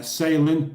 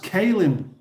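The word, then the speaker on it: Caelyn: your name Salin it's pronounced kin okay uh welcome welcome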